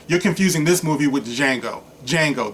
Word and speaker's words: Django: confusing this movie with django Django the D is silent okay so uh anyway